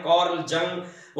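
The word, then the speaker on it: Carl Jung: इसको देखना तो बहुत लंबी बात है आप कर्ल यंग नाम का सी ए आर एल कर्ल वाई यू एन जी कर्ल यंग कर्ल जंग और गाव देश के हिसाब से लोग उस व्यक्ति के नाम का प्रोनाउंस उच्चारण करते हैं उस व्यक्ति के कुछ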